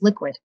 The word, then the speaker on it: LQWD: with sean anstey founder and ceo of lqwd pronounced liquid the first publicly traded purpose-built bitcoin company that's